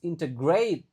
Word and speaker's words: integrate: Ifanies integrate. Nah, lagi-lagi. Jadi kalau ada AT itu pasti dibacanya aid, integrate.